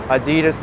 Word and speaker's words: Adidas: Fifth Avenue now actually if you were to pronounce Adidas the right way it's Adidas cuz that was the person's name who who founded the company his name is AI